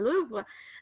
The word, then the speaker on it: Louvre: And a lot of the pieces I am most interested in seeing in real life can be found in the Louvre. Am I pronouncing that correctly?